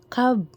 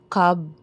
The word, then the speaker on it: Cobb: Tinanong ko mismo yung staff kung ano ba yung tamang pronunciation sa flavor nila na C-O-B-B. Cobb ba or Cobb? So, ang sabi niya, Cobb. So, sundin natin. Cobb pala yun, hindi Cobb.